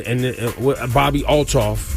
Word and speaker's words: Bobbi Althoff: He was saying him and Bobbi Althoff. That's how you say it last. I'm saying it right? Right.